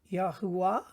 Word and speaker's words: Yahweh: and say yes we have a tendency to say yahweh but in modern terms this has become a vey so javi or yahweh sounds very similar some will say it's yahuwah but we will just stick at the moment with yahweh and this is el